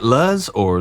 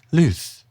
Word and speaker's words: Luzz: In certain parts of the world, that would be pronounced lose or lose. But here in America, we call it lo.